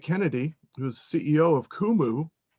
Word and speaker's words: Qumu: today is tj kennedy who is ceo of kumu it's spelled q-u-m-u as you can see behind him there but it's pronounced kumu tj welcome thanks chris great to be on